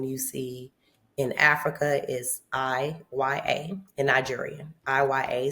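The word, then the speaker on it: Iya: see in Africa is I Y A in Nigerian I YA. So the I sounds like a E.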